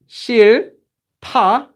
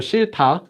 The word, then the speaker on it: 싫다: Okay, this one is pronounced as 싫다, Because remember, this letter makes this one this one a strong consonant, and then it goes away. So shi ta.